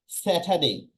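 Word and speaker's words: Saturday: ওই যে দেখেন, এ ওয়াই, এ ওয়াই, যখন কোনো ওয়ার্ডের শেষে এ ওয়াই থাকে বা এ থাকে, সেক্ষেত্রে তার সাউন্ডটা হয় এই। আর টির উচ্চারণ আমরা কি দেখেছি? টি, মানে ঠ। ট এর উচ্চারণ ঠ। সো স্যাটারডে, এখানে আরটা কোথায় গেল?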